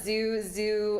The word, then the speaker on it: ZHU: But Zoo, that's spelled Zoo as in Zoo. Zoo as in ZHU.